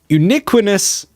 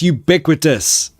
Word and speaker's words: ubiquitous: brain would die um uniquinas almost almost it's ubiquitous ubiquitous Michelle how you doing